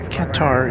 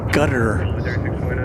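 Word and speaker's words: Qatar: guess I've heard that the correct pronunciation for katar is sounds more like gutter but I can't bring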